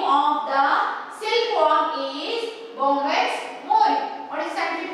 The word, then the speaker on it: Bombyx mori: Very, very important that remember, pronounce it properly. Bombyx mori.